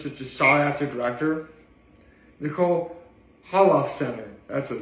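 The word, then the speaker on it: Holofcener: Nicole Holof Center, that's what it's pronounced.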